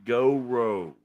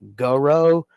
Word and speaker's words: Gowrow: you say it because I've been kind of dropping the W uh on go and just calling it Goro but I think it's Goro that's the same thing go row is it